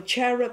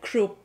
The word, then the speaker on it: cherub: Because, you know, cherub is actually not the correct pronunciation. If you follow the Hebrew Bible, it will be something like krub itself. So why are you pronouncing it like cherub?